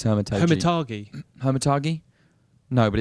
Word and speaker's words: Hermitage: I think it's Hermitage. Hermitage? No, but it's age. It says age at the end, so I think you pronounce it Hermitage.